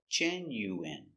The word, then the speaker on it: genuine: u w i genuine First syllable stress, genuine.